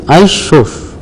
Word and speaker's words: isos: Pronunciation is ISOS. ISOS you should pronounce as ISOS. H you should pronounce as SOS.